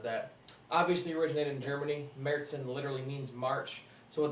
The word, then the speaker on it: Märzen: I did it to see if you guys were paying attention, because I know it's pronounced Märzen. Märzen actually means March, so